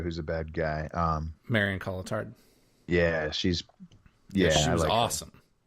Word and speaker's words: Cotillard: Marion Cotillard. Yeah, she was awesome. I think it's Marion Cotillard. Cotillard. That's how you say it.